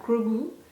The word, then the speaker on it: Grogu: We have Grogu. That's great. That's how to say Grogu. Grogu. Grogu. I'm not gonna pronounce his name if I'm eating, you know.